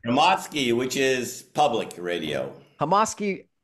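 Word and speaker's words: Hromadske: And it's on, how do I pronounce this? Hamadrak Radio in Kyiv, is that correct? Hamadsky, which is public radio.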